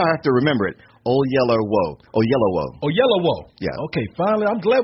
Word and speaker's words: Oyelowo: Oyelowo. Oyelowo. Yeah. I know that's how I have to remember it. Oyelowo.